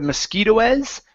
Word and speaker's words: mosquitoes: go to uh mosquitoes so on this word the E S at the end of the word that e is not pronounced okay instead of mosquitoes it's mosquitoes mosquitoes mosquitoes okay very good